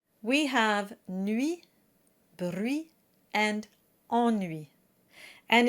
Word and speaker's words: ennui: The trick for getting the correct pronunciation is to imagine you're combining 2 words, en and nuit that we just saw a minute ago. Ennui, ennui.